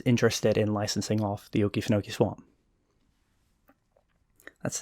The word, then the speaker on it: Okefenokee: a company that's interested in licensing off the Okefenokee Swamp. That's how you pronounce that, right?